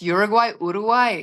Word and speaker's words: Uruguay: to talk about that, but you pronounce Uruguay, which only is that tips it off that nobody else calls it Uruguay. No, I'm also a big football fan, football fan. So proper. So I'm watching, they call it Uruguay. That's what they call it. Congratulations. Well done for pronouncing it right.